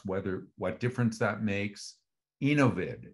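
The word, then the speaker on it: Enovid: what difference that makes innovid is um though I'm being told is the way to pronounce it e-n-o-v-i-d out of Israel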